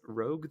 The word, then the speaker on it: Rouge: Is it pronounced Rouge? I'm pretty sure. I'm pretty sure it's supposed to be French. Like Rouge.